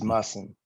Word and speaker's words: Musson: I did the original pronunciation. I'll get Musson. Musson. It's Musson.